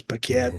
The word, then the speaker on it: Paquette: I know it's Paquette, but I always said her name wrong.